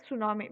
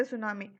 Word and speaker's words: tsunami: Even Kadalur, I mean recently we all were affected with the tsunami. So let us talk first what is meant by tsunami. Tsunami is a Japanese word. TSU. Tsu means, T is silent there.